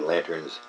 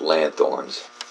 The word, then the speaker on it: lanthorns: They're lanterns, not lanthorns. Lanthorns. Lanthorns. Maybe that was how originally it was spoken. But we don't say it like that anymore. We say lanterns.